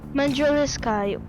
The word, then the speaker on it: mandraliscae: Mandriliskayo. Right, got it. Senecio Mandriliskayi.